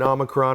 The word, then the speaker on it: omicron: about omicron right that's how you say it omicron a year ago most of the people most